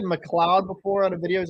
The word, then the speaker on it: McLeod: So when I did McLeod in the video, people were like, dude, it's actually like you say McLeod.